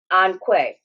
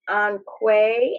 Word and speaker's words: Onque: Onque. So I am forever corrected. It is Onque, and even though they will answer to Onque, I'm going to say it correctly from now on.